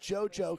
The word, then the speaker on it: Zuzu: Zuzu is pronounced JoJo because it's a Chinese name.